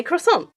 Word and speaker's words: croissant: So I say it in the American way and say cross on.